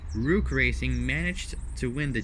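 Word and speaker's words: Roock: So, despite this, a GT2 prepared by Rook Racing managed. It's like the word rock but with an extra O onto it. It's spelled R-O-O-C-K. Rook Racing managed to win the GT2 class at the 24 Hours of Daytona.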